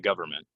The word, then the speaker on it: government: experience with the government get that an out of there government one more time tell me about your recent experience with the government this one the modals